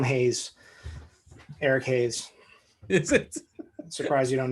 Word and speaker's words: Hayes: this guy's name before haas no it's hate they call him hayes eric hayes surprised you